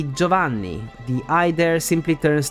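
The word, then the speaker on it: Giovanni: of the team rocket in English is Giovani while it's simply joavan the I there simply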